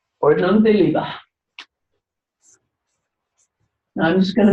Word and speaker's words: Ordnung der Liebe: I know how to say this in German, but you can pronounce it better than I can. Katharina? Ordnung der Liebe. Ordnung der Liebe.